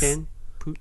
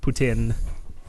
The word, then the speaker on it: poutine: word delegate to Alex Putin Putin Putin yes okay if you're if you're anglophone Putin if you're frankophone put in yeah you know it's